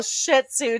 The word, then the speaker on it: Shih Tzu: I'm like, you're being a little Shih Tzu today. You better knock it off. Is that how you pronounce it?